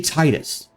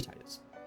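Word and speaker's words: Tidus: that's how I feel it should be Titus so I want to I'm going to give him the American pronunciation because how I feel it is okay his eyes his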